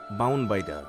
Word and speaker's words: বাউনবাইডা: ব্রাহ্মণবাড়িয়ার আঞ্চলিক উচ্চারণ বাউনবাইডা।